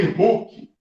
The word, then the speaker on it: Hooke: Essa forma é chamada lei de Hooke. Lei de Hooke. Não é o incrível Hulk lá do cinema, não. É Hulk, se escreve assim, O-O-K-E.